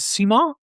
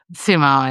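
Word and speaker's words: Simon: This is Simo. Simo.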